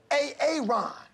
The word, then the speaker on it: Aaron: I'm just asking, I said it like four times, so why didn't you say it the first time I said A-A-Ron? Because it's pronounced Aaron?